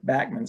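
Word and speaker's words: Bachman's: much like this in a Bachman Sparrow sorry Backman's I have to keep reminding myself to pronounce it that way embankment Sparrow came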